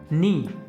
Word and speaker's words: knee: The silent letter इन नी। जो KNEE है इसमें साइलेंट लेटर क्या है, तो इसको नी पढ़ते हैं, यानी कि इसमें जो के होता है वो हमारा क्या होता है, साइलेंट होता है।